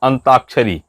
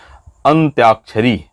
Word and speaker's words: अंत्याक्षरी: अब अंताक्षरी, उसका उच्चारण कैसे बोलते हैं, अंताक्षरी सामान्य रूप से, इसलिए इसको गलत लिखते हैं।